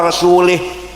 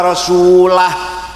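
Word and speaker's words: رسوله: Wa annallaha bari'um minal musyrikin wa rasulih. Allah tidak melindungi orang musyrik dan tidak melindungi Rasulullah. Salah. Bacanya harus wa annallaha bari'um minal musyrikin wa rasulah. Rasulah jangan rasulih.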